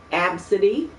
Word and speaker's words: Abcde: no no after say save the winds belt AB City no but that's the only way it could possibly be pronounced a B I know and that's why